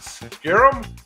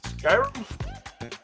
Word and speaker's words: Skyrim: Scrolls five and how do you say that scarum Skyrim Skyrim Skyrim Skyrim's famous line I used to